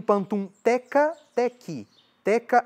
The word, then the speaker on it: teka: Existe o Pantum Teka, Teki. Aliás, antes o Nazihat, né? Nazihat se escreve N-A-S-I-H-A-T. Nazihat. Tem o Pantum Teka, Teki. Teka é T-E-K-A, Teki é T-E-K-I.